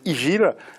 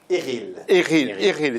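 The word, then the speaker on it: Ighil: Donc, il a frappé, tout simplement, l'entraîneur du Sendai, Méziane Igil. Pardon? Eril, c'est la prononciation.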